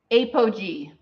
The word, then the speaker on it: apogee: Apogee. It's spelled.